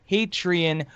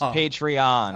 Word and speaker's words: Patreon: out of me is how he continues to say patreon when it's actually pronounced patreon oh no you know